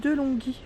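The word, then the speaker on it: De'Longhi: et c'est la marque de longhi je te rassure le prononce comme ça delonghi peut-être de mettre chaudière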